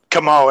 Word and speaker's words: Comeau: Comeaus, actually, it's a very French name. Comeaus, just like Perry Como, Perry Como, the singer.